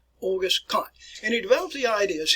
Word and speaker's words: Auguste Comte: way I pronounce this, Auguste Comte. All right, even though it's spelled C-O-M-T-E, it is spelled Comte, Auguste Comte.